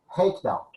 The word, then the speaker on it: Reikdal: Is that pronounced correctly, Reikdal? Yeah, this is Icelandic. Reikdal.